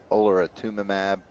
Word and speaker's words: olaratumab: And then in February of this year, she was started on adriamycin and olaratumab. How do you pronounce that?